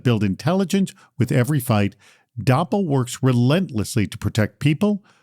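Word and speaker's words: Doppel: Dapple is the AI native social engineering defense platform fighting back against impersonation and manipulation.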